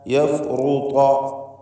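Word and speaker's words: يفرط: നഖാഫു അൻ യഫ്റുത അലൈന യഫ്റുത റാഇന് തഫ്ഖീമുണ്ട്. ത്വാഇനും പൂർണ്ണമായ തഫ്ഖീം. യഫ്റുത ശ്രദ്ധിച്ച് ഓതുക.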